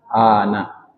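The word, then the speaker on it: أنا: Arab saya apa Ana Ana Anya yang panjang n-nya pendek Ana walaupun a-nya pendek nnya panjang tertulis cara bacanya Ana bahasa Arab saya Ana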